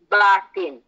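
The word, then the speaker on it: باطن: must correct everybody's pronunciation say that the word is actually batin and batin has many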